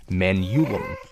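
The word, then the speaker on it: Manyullyn: don't say it correctly, Manulum is the proper way to say the strongest metal in this game.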